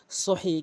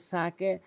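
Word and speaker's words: ث: প্রথমটি হচ্ছে সা, অধিকাংশ লোক সা বলে, এই সাকে সিন বলে থাকে, এই জন্য সা উচ্চারণ করতে হবে। সা জিহ্বার আগা দাঁতের আগার সঙ্গে মিলিত করে ৩টি হরফ উচ্চারণ করতে হয়।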